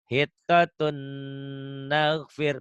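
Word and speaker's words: حطة نغفر: Nih, harusnya walaupun tidak ada tasdid tetap dibacanya hitatun karena kamu udah tahu hukumnya idgham. Tapi di Quran sudah ada tasdidnya, sudah ada tanda gitunya ya. Hitatun naghfir.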